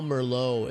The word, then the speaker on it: Merlot: I always thought that was cool because Merlot is spelled M-E-R-L-O-T, so Merlot, but it's a little, so Merlittle.